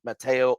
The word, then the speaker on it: Matteo: guest for you today Matteo from pop-up Mateo awesome to have you along for the ride